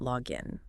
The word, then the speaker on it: log in: Remember to push that slight stress onto the second word when you speak as a verb. I cannot log in.